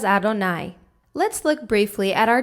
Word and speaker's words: Adonai: second was the tetragrammaton the udhay vav hey which we pronounce as adonai let's look briefly at